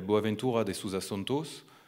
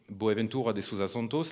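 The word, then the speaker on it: Boaventura de Sousa Santos: d'un sociologue qui s'appelle boaventura da souza santos je le prononce à la française il a expliqué en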